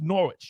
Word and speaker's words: Norwich: then again educate and entertain I'm all over these pronunciations it's Norwich you don't say the W all right so many